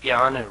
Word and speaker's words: Bjarne: The proper Danish pronunciation of my name is Bjarne. Native English speakers usually get Bjarne right, but I often have to say or to be understood.